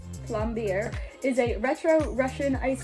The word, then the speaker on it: plombir: I think that is pronounced Plombier, is a retro Russian ice cream with one defining factor: it's extremely rich.